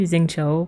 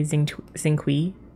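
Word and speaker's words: Xingqiu: I say Xing Cho, but a lot of people say Xing Kui. It's another one. Those are the two that stand out to me. Yeah. But Xing Cho gets the brunt of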